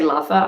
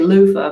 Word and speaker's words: loofah: five different ways and you can say luffa i guess or loofah I say loofah but I think people say luffa she said I inspired